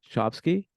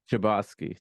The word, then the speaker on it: Chbosky: I don't know how to pronounce his last name. I'd let you do it. Stephen Chbosky? Chbosky. Chbosky.